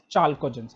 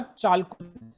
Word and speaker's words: chalcogens: Oxygen family, or can call them as chalcogens. हाँ जी संचिता बोलो बेटा। So can you just pronunciate the chalcogen spelling?